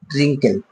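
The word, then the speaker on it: wrinkle: আই ST wrist আমরা আরো example পেয়ে যাব রিঙ্কেল মানে অর্থাৎ বন্ধুরা এরকম করে কিন্তু আমরা একাধিক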